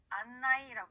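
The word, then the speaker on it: あんない: 자, 또 하나 계속해서 보자면 안내라고 하는 건 일본어로 했을 때 안나이라고 합니다.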